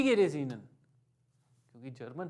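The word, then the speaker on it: Ihnen: हालचाल पूछने का क्वेश्चन होता है वी गेट एस ईनन, वी गेट एस ईनन, वी गेट एस ईनन, एच बीच में आ रहा है, साइलेंट कर दिया हमने। वी गेट एस ईनन, क्योंकि जर्मन है, फ्लो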